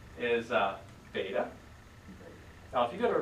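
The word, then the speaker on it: βῆτα: As a beta or beta? Beta. With a long name like pronounce it.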